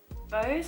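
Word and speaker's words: bough: I did struggle sometimes with some of the language, like descriptions of things like bows, is that how you say it? B-O-U-G-H, and barrows and things like that I didn't quite understand.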